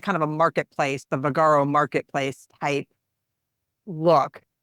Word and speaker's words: Vagaro: that right is that the next one yeah vagaro and so that's spelled v a g a r o um